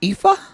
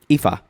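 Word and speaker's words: Ifá: It's pronounced Ifa. Ifa.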